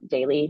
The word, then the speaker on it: Daly: Daly. Daly is spelled like Daley.